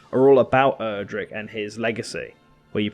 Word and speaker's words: Erdrick: First of all, I'm not a Dragon Quest fan, so please don't hurt me if I mispronounce his name, but Edric. Erdrick, like Erdrick.